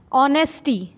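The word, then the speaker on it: honest: मतलब होता है मात्रा ऑनेस्ट ईमानदारी इसमें ह साइलेंट होता है इसलिए ऑनेस्टी कहते हैं इसको और ऑनेस्ट मिस होता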